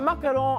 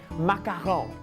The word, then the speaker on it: macaron: A macaron, on the other hand, well, you've got to pronounce it with that French je ne sais quoi. Macaron, macaron, macaron.